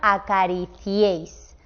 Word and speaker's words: acariciéis: Una I, una E y una I. Y aquí lo veis en la palabra acariciéis. También el ciéis se pronuncia en el mismo golpe de voz, por lo tanto esto sería la misma sílaba.